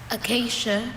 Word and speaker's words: acacia: Acacia. Can I have all the information relating to this word? Sure. Acacia, this is the only pronunciation that I have.